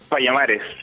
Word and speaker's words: Payamares: Payamares, Payamares. Payamares.